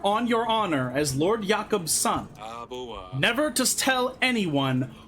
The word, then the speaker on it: Jakob: Because in my head, I'm just like, oh, I'm gonna pronounce this like in a Norse fashion, so the J is a Y.